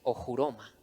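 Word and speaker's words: ὀχύρωμα: con esa palabra fortalezas la palabra en griego a la cual él se refiere es ocuroma se pronuncia o juroma y Qué son los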